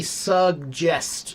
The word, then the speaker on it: suggest: It should always be suggest, Larry. Suggest. It should have a hard G and a soft G.